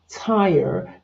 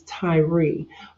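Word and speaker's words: Tyre: t y r e it's pronounced Tire just like a tire on a car but some people look at it and think that it's Tyrie but Ty was uh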